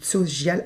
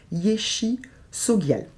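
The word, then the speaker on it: Yeshe Tsogyal: La tigresse aussi, qui s'appelle Yeshe, donc Tsogial, alors pardon, il y a la prononciation, Yeshe Sogial.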